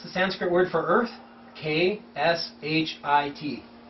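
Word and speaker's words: क्षिति: Sanskrit word for earth kh i But the K is silent.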